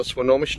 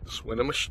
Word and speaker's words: Swinomish: here we are at le connor on the sonomas channel swinomish channel i guess is how it's properly pronounced and uh let me turn this around